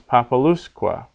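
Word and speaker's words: populusque: here in this example the word would normally be populous populous the second last syllable is short so the accent is on the third last syllable apocalypse but now with quet on the end it becomes papaluska papaluskua because that U becomes long because it comes before two consonants in a row which is a rule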